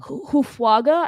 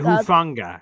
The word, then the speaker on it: Hufanga: Hufwaga, I think is how you say his name. Yeah, Hufanga. Yeah. Hufanga.